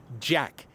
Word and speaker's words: JATK: One band taking the stage this year in particular will be the local band JATK, J-A-T-K. The T is silent.